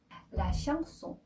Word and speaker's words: chanson: 네, 네, 세 아슈는 슈 발음하거든요. 그래서 이 슈 다음에 아 n이니까 엉 발음 나고요. 송 son에 on은 옹 발음 나거든요. 그래서 la chanson 이렇게 발음하셔야 되고요.